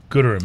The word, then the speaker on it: Gooderham: Gooderham is how you say it.